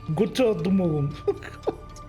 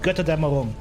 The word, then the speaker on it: Götterdämmerung: Kirchbach Götterdämmerung Guys, please invest in some speakers that actually know what the you're talking about. Jesus Christ. Kirchbach I mean, if you want to bastardize it with some North American accent, sure, but I don't know. It's called Götterdämmerung. Götter? Dämmerung. Twilight of the gods.